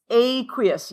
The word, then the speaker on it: aqueous: And it is pronounced, do you guys remember how? Aqueous, yes, okay? Aqueous.